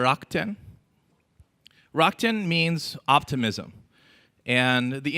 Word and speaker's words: Rakuten: First of all, don't pronounce it Rakuten, right? That's maybe the UK version, and they didn't do so well. Rakuten is fine, or Rakuten.